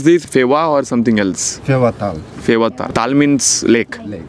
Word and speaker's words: Phewa Tal: So you pronounce this Phewa or something else? Phewa Tal.